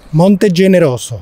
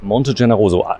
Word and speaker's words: Monte Generoso: Okay, und wenn du mir nochmal genau sagst, wie das ausgesprochen wird, Monte? Monte Generoso. Monte Generoso, eigentlich ganz einfach, oder?